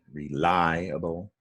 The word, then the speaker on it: reliable: up for today okay realiable is a four syllable word the stress is on ly reliable and down below the